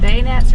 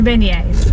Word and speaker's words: beignets: me crazy dnews that I was pronouncing this wrong but bayonets are not being as there with that one of the beignets yes they're beignets okay no I'm sorry pronounce